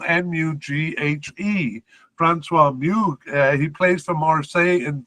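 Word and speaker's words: Mughe: However, we do have a new candidate brought in, and this is Francois Moug. It's spelled M-U-G-H-E. Francois Moug.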